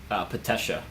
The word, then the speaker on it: Patesha: how do you say your name? Patesha. Patesha.